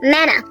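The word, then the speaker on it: manna: do you call this Mana indeed it rightly rhymes with Hannah because Hannah was given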